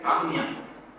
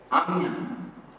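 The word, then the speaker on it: Ajna: Next chakra is Agnya. Agnya. Agnya. Agnya. In Bengali, Bangla pronunciation. What I know, because I read in Bengali. So, Agnya.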